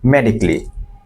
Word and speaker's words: medically: সো মেডিকেলি না, মেডিকলি, মেডিকলি, again medically, he needs medically prescribed.